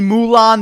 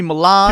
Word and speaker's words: Milad: People have called me Mulan, they've called me Milan, people call me Milad, people call me my lad. I've even had people call me Millard. But listen, any way that you pronounce my name, I kinda like it.